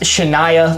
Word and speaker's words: Shania: Please, Borgos, Shania like Shania Twain.